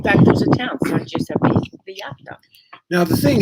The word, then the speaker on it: Giuseppe: So, for example, the letter J is pronounced like the letter G. And the best example I can give you, Esther, is Giuseppe. See? In English, it would be with a J, okay?